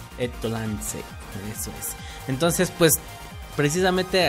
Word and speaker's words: EtlanZ: ¿En japonés cómo se pronuncia? Etolanze. Etolanze, eso es.